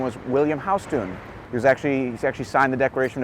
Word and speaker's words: Houston Street: It's called Houston, by the way. It's not pronounced Houston.